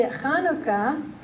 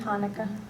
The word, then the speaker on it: Hanukkah: includes our return see kanuka and you don't have to pronounce it like that I think he'll do with Hanukkah just know it's a pronunciation test like cila if you